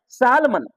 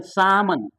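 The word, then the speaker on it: salmon: L silent होगा would तो मेरा कहना है सालमन सालमन तो हम लोग पढ़ते हैं सालमन एक मछली का प्रजाति तो बो सामन सा सालमन तो सामन बोलना है ना एल साइलेंट हो जाएगा यहां आलमंड नहीं बोलना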